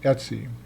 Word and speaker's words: etc: be aware of and it's called Etsy we pronounce it Etsy the home folder here the home directory contains